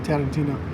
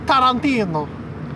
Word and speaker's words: Tarantino: and I realize that you don't say his name Tarantino its Tarantino I mean that's if he's